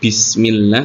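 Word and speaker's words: بِسْمِ اللَّهِ: ee yang terjadi adalah membacanya harakatnya miring Jadi bukan bismillah tapi bismillah Meskipun tidak mengubah makna akanapi itu tidak sempurna pengusapan kasrahnya ya jadi diusahakan membaca bismillahnya dengan kasrah yang sempurna menurunkan rahang Bi Bismillahi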